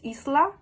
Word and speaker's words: Isla: say my name like it's supposed to be pronounced like the s like a snake so isla is what